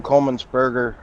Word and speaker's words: Coleman-Sperger: I would expect Jim Coleman-Sperger, to the first time I pronounced it, I threw a B in there that shouldn't have been.